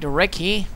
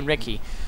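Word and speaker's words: recce: and charging ahead light recky as the British would have said the Americans say Recon I prefer to say recky sounds a bit more dashing and going after the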